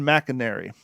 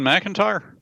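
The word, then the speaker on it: Macintyre: the war by Ben Mcinary in Random House audio. Is it Ben McIntyre? Uh, yeah. Sorry, it's spelled a little weird.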